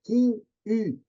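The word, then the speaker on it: 金鱼: Em chinês, né? Os mesmos ideogramas é Qin-yu, é um iu, Qin-yu, en français, né? Fazer o bico do francês lá para dar pronúncia. Então, observe, essa que eu sei do chinês.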